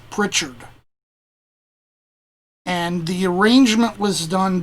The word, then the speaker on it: Pritchard: The composer, I believe his name is pronounced Roland H. Pritchard.